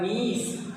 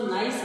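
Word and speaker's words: niece: नेफ्यू भतीजा या भांजा, और नीस, कुछ इसको नाइस बोलते हैं, नाइस नहीं है, ये है नीस।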